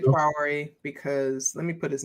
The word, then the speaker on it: Traoré: And I'm pronouncing it Traoré because let me put his name in the chat just so people can know who I'm talking about.